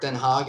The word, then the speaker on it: Den Haag: this is a fantastic young sight and parrot Den Haag if I'm not mistaken that's how you pronounce it he's a really good coach for